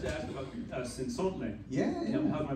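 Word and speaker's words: Cenzontle: I'd like to ask about Sinsontle. Yeah. How's my pronunciation?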